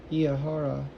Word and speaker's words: Eahora: I'm going to call the Juliet bike behind me, and I think that's the company is pronounced Eahora, E-A-H-O-R-A, I think, which means now.